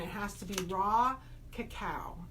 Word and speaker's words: cacao: Raw cacao, and that's how it's pronounced.